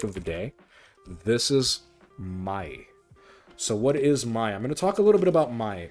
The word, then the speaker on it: maai: our last topic of the day this is my so what is my I'm going to talk